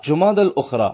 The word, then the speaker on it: جمادی الاخری: لغت کے اعتبار سے ان دونوں مہینوں کے درست نام اور صحیح تلفظ یہ ہیں جمادی الاولیٰ، جمادی الاخری اور جمادی الاخرہ۔ پیارے پیارے اسلامی بھائیوں،